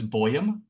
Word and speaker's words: Boam: pronounce your last name my last name is boam it comes it's actually I think it's a Norwegian in uh in its Origins but it's a Bo